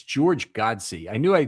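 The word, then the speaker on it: Godsey: It's George Godsy.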